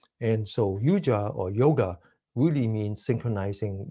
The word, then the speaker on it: yoga: The word yoga is a Western pronunciation. The original pronunciation in North India is called yuja, and yuja basically is